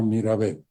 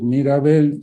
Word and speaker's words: Mirabel: se llaman mirabel en en Francia se llama mirabel se pronuncia como mi apellido y yo cuando trabajaba en Francia si alguien me preguntaba Cuál es su apellido tenía que decir mirabel si con solamente una